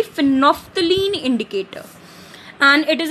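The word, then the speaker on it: phenolphthalein: The very first is फिनोफ्थलीन indicator, इसमें एल जो है वो साइलेंट है, इट is known to बी फिनोफ्थलीन indicator and इट इज a very commonly use indicator in laboratory.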